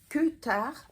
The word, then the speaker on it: Kutar: C'est le Kutar Top qui se prononce Kutar parce que c'est du finlandais.